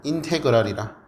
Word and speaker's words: 인테그랄: 자 그래서 요렇게 기호로 쓸 거고 인테그랄이라 인테그랄이라고 읽으면 돼.